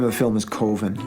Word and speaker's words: Coven: of the film is koven koven koven coven that's the proper pronunciation no no coven sounds like Oven Man and that's just it doesn't work every time we got